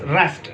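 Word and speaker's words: wrist: For example यहां पर हमारे पास रेस्ट, रेस्ट कहते हैं कलाई को, लेकिन इसमें ये W साउंड है ये साइलेंट है, रेस्ट की आवाज हम निकालेंगे, इसको साइलेंट लेटर कहते हैं।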